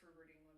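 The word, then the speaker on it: Robert Englund: So Rubert England and it's pronounced Rubert England by the way. Rubert England also plays Phantom Eric the Phantom Phantom of the Opera in Phanto.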